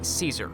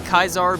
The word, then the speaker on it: Caesar: before you say it yes i know it's pronounced caesar they just call it kaisar because yep add to